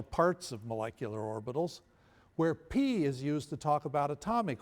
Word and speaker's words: π: Now that P is called for this purpose pi. Pi is the Greek version of P. In fact, in Greek, you pronounce it P, not pi, right?